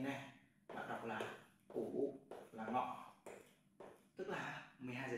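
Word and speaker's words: 午: bạn viết như sau như thế này bạn đọc là ủ là Ngọ tức là 12 gi trưa Thế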